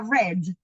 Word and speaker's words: read: no se pronuncia igual en pasado se pronuncia red como el color red I read a Bed